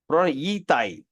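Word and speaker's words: 以太: Yi Tai.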